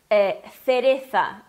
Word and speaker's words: cereza: tens que pronunciar cereza. Ou, né, como seria, por exemplo, na Espanha, seria cereza. Empaquei aqui. Cereza, né? Eles fazem a língua entre os dentes, o som parecido com o TH do inglês, né?